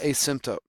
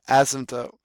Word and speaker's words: asymptote: 0 right there we call that the a symptom the asymptote sorry I keep saying it wrong asymptote there you go all right so